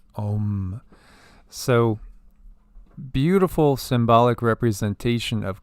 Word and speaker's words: Om: Keep in mind here this that the Sanskrit sign is literally translated as a m. However, it's pronounced as om.